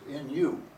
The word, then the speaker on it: nu: And for that we use the Greek letter new which is pronounced nu.